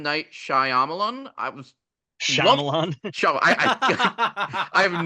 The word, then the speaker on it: Shyamalan: in Lady in the Water by M Night Shyamalan I was Shalon I I've never been able pronounce that last name it's Shan I would love to know what that experience